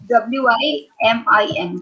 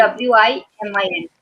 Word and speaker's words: women: So it is pronounced Women. as WIMIN. Basically, it is basically pronounced as Yes. Women. WIMIN.